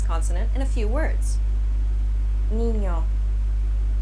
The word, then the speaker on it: niño: One trick to pronouncing this sound is by saying the word onion, Onion. or canyon. Canyon. It kind of sounds like a combination between an N and a Y sound, doesn't it?